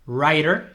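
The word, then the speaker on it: writer: trabajos other jobs que esa primera W no se pronuncia Rider entramos directamente a la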